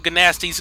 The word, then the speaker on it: Gnasty: to go snatch up ganasti's galoot let's go i don't know why i'm going on with the hard g sound thing i guess just because